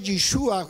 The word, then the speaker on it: Yeshua: Recuerde, Josué, Yeshua, el nombre de Josué se pronuncia Yeshua, que es el mismo nombre de nuestro Señor Jesucristo, que también significa el que nos introduce en el reposo.